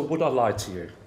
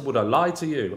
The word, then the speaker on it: Would I Lie to You?: I Lie to You, with the emphasis on the lie. Welcome to Would I Lie to You, as opposed to Would I Lie to You. Oh, no, sorry. No, so you have the emphasis on the you. Would I Lie to You? Whereas everybody else I know has the emphasis on the word lie.